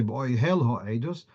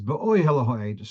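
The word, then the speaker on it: בְּאֹהֶל הָעֵדֻת: Whereas in the word be'oihel ha'edus, you wouldn't say be'oihel ha'edus, it's be'oihel ha'edus. So the stress is on the penultimate syllable.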